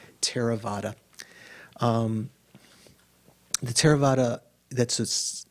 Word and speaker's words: Theravada: english when you see t-h-e-r-a v-a-d-a it looks like you'd pronounce it a theravada that th is just an aspirated t so it's not pronounced thera it's terra like an aspirated t teravata um the theravada that's